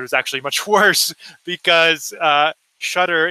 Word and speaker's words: Shutter: And we thought this would be better, but it was actually much worse because Shutter is pronounced Shuta in Kenya. They don't pronounce R's at the end of a word.